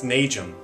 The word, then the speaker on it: Nageum: Uh, it's Nageum. I know it can be uh it's a unique last name, but that's how you pronounce it.